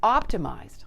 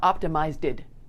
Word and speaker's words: optimized: It's optimized, not optimized-ed. Emphasize that -ed sound, so it's pronounced as a d. Blend smoothly with the zed that comes before it.